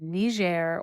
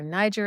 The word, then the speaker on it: Niger: wild west of the lands of ner or Niger Asm Americans say it West Africa as Christian